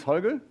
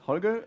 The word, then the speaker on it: Holger: at the gab universe so my name is hogga sometimes difficult to pronounce hogga uh and at me SP I'm a senior